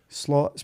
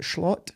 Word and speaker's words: Slot: Mero round started because slot's been confirmed is it schlot how do you say it AR slot I believe slot he's been confirmed for